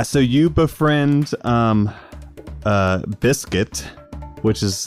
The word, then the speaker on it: Bisket: on uh yeah so you befriend um uh biscuit which is how you will now lovingly refer to him it's spelled b i s k i t all